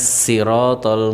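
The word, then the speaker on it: الصراط: Ihdinas siratal mustaqim. Pakai sin bukan shad.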